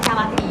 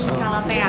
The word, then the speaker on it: Calathea: Sebenarnya tuh pronunciasinya bukan Calati, tapi Calatea.